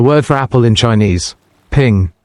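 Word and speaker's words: 苹: The word for apple in Chinese, ping, sounds like the word for peace, ping'an.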